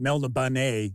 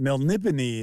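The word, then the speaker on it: Melniboné: Remember, I always say that for decades I called it Melnibone. So did all my friends. So I got an audiobook, and I was like, oh, so they want to pronounce it Melnibone, eh?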